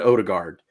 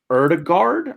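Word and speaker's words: Ødegaard: imminently is uh martin odegaard or erdegaard i think is how you pronounce that oh it's oh it's a oh like oh odigard oh it is odegaard i heard it was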